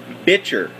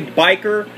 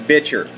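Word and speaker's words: bichir: you see him uh that is an ornate bitcher okay that's how it's actually i mean some people say biker uh but it's actually pronounced bitcher uh it's a little two to three inch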